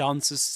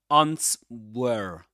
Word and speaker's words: answers: It answers to me. It answers to me. Answered in this case is a verb. It answers to me. It's not ants were not ants were the this letter the W